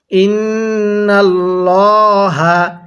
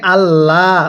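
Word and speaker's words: الله: পড়বো পোর করে পড়বো আর এই আল্লাহ শব্দের লামের পূর্বে যদি হরফের নিচে এরকম জের থাকে তাহলে আমরা এটাকে আল্লাহ অর্থাৎ তখন চিকন করে বারিক করে পড়বো তাহলে এখানে মোটা করে পড়বো কারণ আল্লাহ শব্দের লাম এর পূর্বে জবর এরপরে বিমা কিভাবে পড়বো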